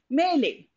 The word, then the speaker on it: melee: is a confused fight a muddle this is pronounced in this way melee so what does it mean it is a